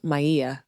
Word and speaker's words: Maia: My name is pronounced Maya.